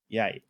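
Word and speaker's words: ใหญ่: Anyway, so the first one is yai, as in big, so low tone, yai.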